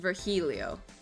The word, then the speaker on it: Virgilio: face you look winded virgilio it's pronounced vergilio yeah i i mean